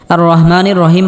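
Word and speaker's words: الرحمن الرحيم: রহমানির রহিম বলা যাবে না।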